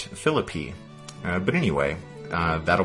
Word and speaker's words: Philippi: about that I guess in West Virginia or Western Virginia they pronounced that philippy uh but anyway uh